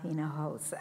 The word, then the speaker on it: Hinojosa: My name, like he said, is Hinojosa, and here it's pronounced Hinojosa.